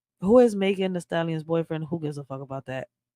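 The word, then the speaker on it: Megan Thee Stallion: as Megan the stallion pronounced Megan the stallion is an American rapper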